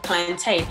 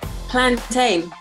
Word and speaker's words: plantain: but it's definitely ain't plantain. And plus, come on, where do they grow plantain? In a plantation? Plantain. I feel like it's pronounced captain, mountain, and plantain.